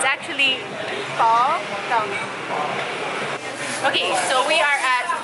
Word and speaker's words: pho: I'm quite hungry at the moment, and I've been dreaming of pho. That's apparently the right way to say it.